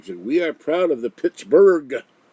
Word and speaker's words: Pittsburgh: are proud of the pittsburgh not with the g alone with the h a berg you don't pronounce the h but it's there i don't know why